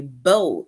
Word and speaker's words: bow: the girl tied a bow in her hair right so this word b-o-w right it is Bow and bow rhymes with low right so as you can